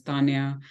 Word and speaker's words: Taniya: and Punjabi so like the actual way of saying my name is Taniya but I don't bother